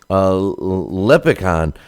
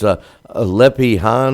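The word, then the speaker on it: Lepikhin: with Isaac Chilimba against Vasily Leprechaun on St. Paddy's Day. No, it's Lepihan, or however they pronounce it. I was totally pronouncing it wrong, but what a stinker that was.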